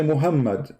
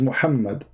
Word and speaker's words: Muhammad: Like now, you say Muhammad, but there's no Muhammad. It is Muhammad.